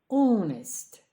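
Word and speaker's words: honest: Sensitive чутливий insensitive нечутливий onest чесний H не вимовляється але не забуваємо його писати уest чесний нечеснийed розслаблений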